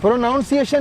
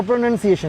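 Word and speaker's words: pronunciation: प्रोनाउंसिएशन नहीं होता। प्रोनंसिएशन होता है।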